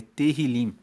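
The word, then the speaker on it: Tehilim: O título dele no hebraico, no texto original é terrilim. Se escreve T E H I L I M.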